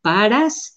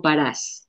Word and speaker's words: parás: Eh, pero yo en algunas palabras decidí sí poner los acentos porque me importaba que el lector supiera que la palabra dinero no se dice paras, sino parás.